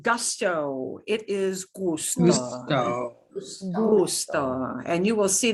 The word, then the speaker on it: gusto: Gusto.